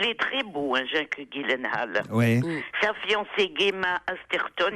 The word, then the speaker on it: Gyllenhaal: avec Jake Gyllenhaal, car il faut prononcer Gyllenhaal et non pas Gyllenhaal comme je l'ai fait hier ou avant-hier.